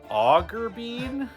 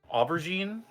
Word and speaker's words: aubergine: I'm sorry because I wrote his name down as Augerbean and then You don't know how to pronounce aubergine? Aubergine, yeah.